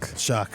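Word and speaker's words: Shough: Shuck. Why do you spell it like that? I don't know. That's English for you, man. No, but that's on me. That's preparation. I have a name that's not phonetically spelled right. That's fine, but English is dumb sometimes. How is that Shuck?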